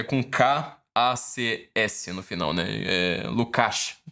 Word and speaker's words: Lukács: Lukács, que se pronuncia, né? Em húngaro.